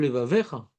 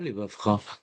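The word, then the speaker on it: לבבך: Tu dis, Ve'afta et Hashem Elokecha bechol levavecha. Pas levavcha. C'est bien, je prends. T'entends ou pas? On dit pas levavcha.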